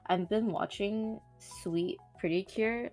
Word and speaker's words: Suite: I've been watching Sweet Pretty Cure. Sweet spelled like SUITE, not sweet like candy.